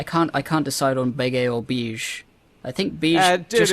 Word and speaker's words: Bege: Oh yeah, like no, in Italian you pronounce it Capone, but whatever. It's Capone, Beige. Beige. It's like Bejji.